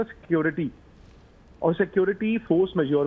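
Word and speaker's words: force majeure: अब फ्रेंच है, मुझे फ्रेंच आती नहीं, इसको प्रोनाउंस कैसे करते हैं, इसको कहते हैं फोर्स मेजोर।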